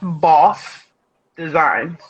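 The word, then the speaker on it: Bawse Designs: say one thing first is pronounce boss designs boss designs yes you kept saying bossy and i'm like why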